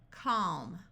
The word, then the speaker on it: calm: L still says L if you have l k or l m then the L will be silent but L plus another